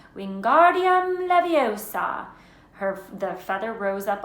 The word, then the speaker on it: Wingardium Leviosa: much more luck when Guardium Leviosa he shouted waving his long arms as a windmill you're saying it wrong Harry heard her Miami snap its Wingardium Leviosa make the GAR nice and long you do it done